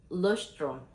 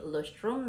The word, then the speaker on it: Leuchtturm: Dan ini tuh sebetulnya official notebook ini pakai notebooknya Leuchtturm. Please correct me if I'm wrong ya kalau gue bacanya salah, karena gue juga mengikuti pronunciation dari beberapa video gitu. Ini Leuchtturm 1917.